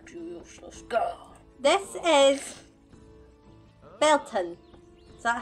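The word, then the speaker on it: Beltane: This is Belton. Is that how you say it? Belton, yeah.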